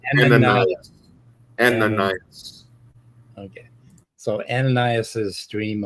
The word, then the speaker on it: Ananias: No, the way I pronounce it, and there could be some variant of it, but it's Ananias.